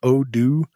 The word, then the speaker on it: Odoo: mentioned this particular project I guess it's pronounced odoo uh o d o o it's a suite of